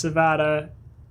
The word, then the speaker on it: Savada: who introduced himself to me as Savada, like Nevada, but with an S.